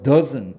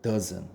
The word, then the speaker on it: doesn't: T는 이거는 발음을 안 한다고 생각하세요. 그러면 자, z에다가 니은 합치면 뭐야? z에다가 니은 합치면 뭐야? 즈이 되죠. 그래서 doesn't 이렇게 되는 거예요. doesn't.